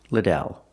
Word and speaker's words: Liddell: I answer, it's pronounced Liddell.